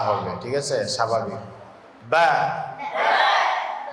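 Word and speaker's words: ب: তাহলে দুই ঠোটের ভিজা অংশ থেকে কি উচ্চারণ হবে বা ভিজা অংশ কি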